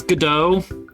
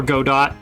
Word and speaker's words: Godot: This is Godot, or Godot, depending on how you want to pronounce it. It's up to you.